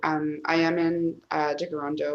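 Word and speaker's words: Tkaronto: i am in uh de garando which is the mohawk pronunciation for toronto um and i always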